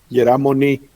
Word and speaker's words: Moni: Moni, did I say it right, guys? Yeramoni.